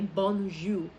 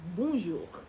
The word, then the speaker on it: bonjour: If I were to ask you to pronounce this word n, you're probably going to say bonju. But that's a false pronunciation. The right pronunciation is bonjour.